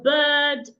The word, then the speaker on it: bird: But of course, that is wrong because these words here do not have the same length. So the right thing to say is, Sir Ben bent and burnt the bird on the bed.